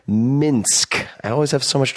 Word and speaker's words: Minsk: Not Minsk, Minsk.